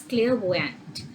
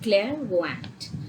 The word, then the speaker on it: clairvoyant: has to be used now this word is pronounced as clairvoyant all right clairvoyant and it means a person who is perceptible